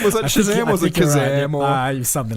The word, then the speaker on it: Shazam: That was a really weird pronunciation. Shazam. It's Shazam. Shazam.